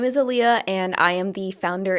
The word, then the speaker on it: Aaliyah: Pronounce your first name for me. Aaliyah.